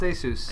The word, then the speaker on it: Asus: yes Asus it's pronounced Asus Asus letter a Dr Seuss that's how you pronounce